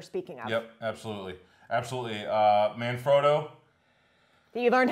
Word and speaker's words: Manfrotto: Manfrotto. That you learned how to pronounce. Yeah, Manfrotto, exactly.